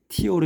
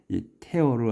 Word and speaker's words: tear: 비늘들은 up 이걸 티어라고 읽으면 안 돼. 태어로 해야 돼. 티어로 읽으면 눈물. 눈물 흘리다 이렇게 눈 되니까이 테어르 하면은 이제 찢는 거고 찢는다 테더머디라운드 머디